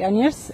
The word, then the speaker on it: Agnieszka: So I got Agnieszka. Yeah, or Agnieszka, you can say Agnieszka and Joanna.